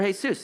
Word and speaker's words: Jesús: They're Jesús hay-SOOS.